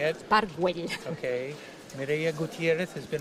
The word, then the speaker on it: Güell: Park Güell.